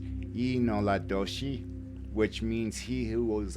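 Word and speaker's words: yee naaldlooshii: It was the Navajo people who coined the term Skinwalker, and in fact, in their native language, and I know I'm going to butcher it, but it's pronounced Inoladoshi, which means he who was on all fours.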